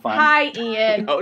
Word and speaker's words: Eoghan: I should have just asked her how you pronounce his name. Ian.